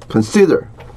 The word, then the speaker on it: consider: Consider.